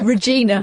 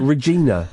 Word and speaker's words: Regina: Regina. Regina. Right. Regina. Not Regina. Well, it's spelled Regina.